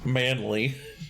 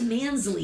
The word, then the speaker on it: Mansley: Um and right, so this agent Manley, is it I thought it was Mansley.